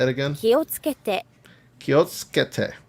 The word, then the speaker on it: 気をつけて: So you have that su sound and it gets lost in the rest of it. So I always screw that up when I'm pronouncing or I hear somebody and I'm like, what do you say? 気をつけて Kiotsukete. So it's ke. Like the su like drives into the next syllable.